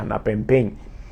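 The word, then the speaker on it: ἀναπέμπειν: el verbo griego es anapempein, sí, así se pronuncia, anapempein, y este verbo se usa regularmente con el sentido de referir un caso a alguien oficialmente para una decisión.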